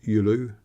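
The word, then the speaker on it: Giolou: the village of Yul even though it's spelled g i o l o u it's pronounced yulu similar similarly yipu uh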